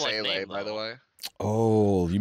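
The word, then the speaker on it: Seele: My years of watching Evangelion have taught me that it's pronounced Sele, by the way.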